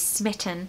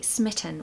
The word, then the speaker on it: smitten: We want a short I and stress the first syllable. Smitten. Smitten. There's a schwa in the second syllable.